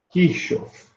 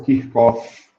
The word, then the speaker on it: Kirchhoff: Que são as equações de Kirchhoff, ou Kirchhoff, do jeito que queira.